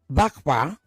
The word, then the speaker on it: Bahbah: When you say, and this is why it's also even more curious, Bakba, now I pronounce it properly, thanks to you, Dr. Bakba was the head of Arab Americans for Trump.